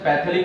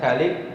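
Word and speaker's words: phthalic: Actually इसका pronunciation पैथेलिक नहीं है, थैलिक एसिड उसका प्रोनाउंसिएशन लिया जाता है, इसके थैलिक।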